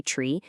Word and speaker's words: trie: It's often pronounced try, though some say tree, but it's also known widely as a prefix tree.